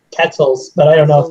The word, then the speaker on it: quetzal: know i just say ketzel's but i don't know if that's right in the most americanized way possible i'd say like quetzal like pretzel that's the one yeah that might be how it's pronounced i just don't know